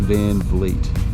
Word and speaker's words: Van Vliet: It's pronounced Van Vliet, and it's a Dutch name that is difficult for some people to pronounce from the way that it is spelt.